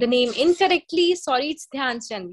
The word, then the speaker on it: ध्यानचंद: Okay, O यस yes, Nishant, you are correct, you are correct, it वाज ध्यानचंद, sorry I pronounced the name incorrectly, sorry, it's ध्यानचंद.